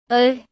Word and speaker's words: Ö: earlier, which means if you try to pronounce the sound A and then purse your lips, you will get the sound. E. Ö. If it didn't help, you can also hear this sound while pronouncing the word nurse or girl.